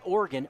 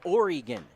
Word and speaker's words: Oregon: of the state oregon it's not organ oregon as the 2-0 pitch